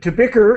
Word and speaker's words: bicker: the beaker yes good tobier is the correct uh pronunciation and it means